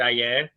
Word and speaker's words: Ayer: I keep on mispronouncing his name because I want to pronounce it like Ayers, but Bobby Soto, who I interviewed, kept on saying is Ayer.